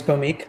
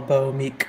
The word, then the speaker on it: Bhaumik: background i am or my name is bomique that's how you say my name it's hard to read but that's how you say it very simple bo meek bomique um i have spent